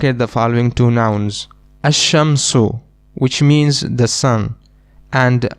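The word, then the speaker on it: الشمس: For example, in a shamsu we directly connect the hamza with the sheen ashamsu and we leave out the lamb.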